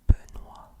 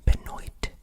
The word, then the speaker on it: Benoît: So, this T is silent. You do not say Benoit, Benoit. Okay? No. You don't say the T at all.